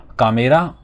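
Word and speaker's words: カメラ: कामेरा English से ही inherit किया गया है वर्ड, तो उसकी प्रोनाउंसिएशन बस थोड़ी सी चेंज कर दी गई है जैपनीज साउंड्स के हिसाब से। कामेरा, कैमरा को बोलते हैं कामेरा।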